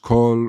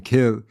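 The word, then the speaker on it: coill: So in the episode on the history of trees, I did mention that place names that contain the word quill, sometimes pronounced cull or even kill, indicate that there was once a forest in that locality.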